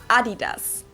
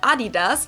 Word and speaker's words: Adidas: what they were referring to because they usually pronounced Adidas and in Germany we say Adidas Adidas Adidas Adidas Adidas super different it's it's